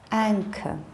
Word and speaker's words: anchor: So, CH we pronounce as K, school, anchor.